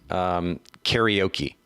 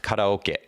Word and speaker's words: karaoke: I'll leave you with trivia so everybody says karaoke do you have any idea how you actually pronounce the word karaoke karate okey no naka